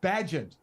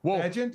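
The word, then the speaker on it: Bagent: had to stun everybody Tyson bant I believe is how you say it bent was bent more Googled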